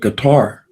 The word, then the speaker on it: Qatar: There was some $500 worth of oil sold by the United States and the money deposited in gutter. Some people pronounce it Qatar.